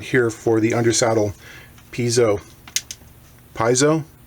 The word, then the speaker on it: piezo: Piezo? How do you pronounce it? The art student in me wants to say piezo, make it sound Italian.